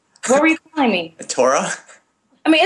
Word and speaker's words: Taura: were you calling me Torah I mean it's okay because some people say Tara some people say Torah it doesn't make a